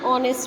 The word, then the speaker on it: honest: An honest man. Why? Because H is silent here.